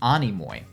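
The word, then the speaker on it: Anemoi: actually checked on that I was was pronouncing it enemo it's Animo um anoy is a Greek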